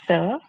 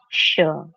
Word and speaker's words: sure: Sure. Not sir. Sure.